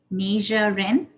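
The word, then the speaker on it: Majsha: to call out your date just like that masha is that how you say your name m-a-j-s-h-a i'm sorry could you repeat that major major okay naja ren is that how you say it or am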